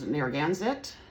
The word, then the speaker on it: Narragansett: I guess the way to pronounce it is Narragansett.